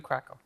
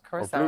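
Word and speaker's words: Curaçao: That's blue Krakow. This is, blue Curacao. Curacao, I said Krakow. I said it wrong.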